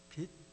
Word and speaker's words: 빚: 그걸 어떻게음 발음해야 되나 빛 장로님 한번 발음 해보세요 빛 에다가 지입니다 치이 아니고 빚쟁이의 빛입니다 그래서 이것을 좀 더